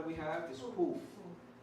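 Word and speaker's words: קוף: The next letter we have is Kuf. Kuf. Which is easy because think of queen, right? Kuf. Kuf. Some people say Kuf. Some people say Kuf. We say Kuf. But if you want to say Kuf, that's okay.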